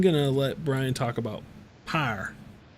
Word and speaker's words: Pyre: I'm gonna let Brian talk about Pyre. Pyre.